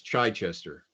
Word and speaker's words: Chichester: It's like sneezing. It's Chichester. So I've heard it. Chichester? Chichester. I've I heard had it a pronounced butchered. a dozen different ways, and people have tried to tell me it's pronounced differently, but that's what I'm sticking with.